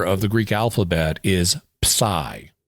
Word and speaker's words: psi: The 23rd letter of the Greek alphabet is pai to pronounce it the Greek way.